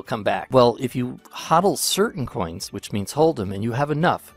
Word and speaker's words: HODL: It's HODL. And it's spelt weird, but that's how you pronounce it, HODL.